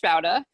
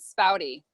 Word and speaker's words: Spaude: So my last name is German. From what I understand, it's some like weirded German, and it would be pronounced Spaude. My sister found that out when she was doing her study abroad in France. But we pronounce it Spaude.